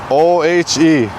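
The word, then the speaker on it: ʻohe: O-H-E. Pretty simple. Ohe. This one. Yeah. Where people mispronounce the O letter is, again, I mentioned it. Make sure you don't go ohe or ohe. Yeah. Ohe.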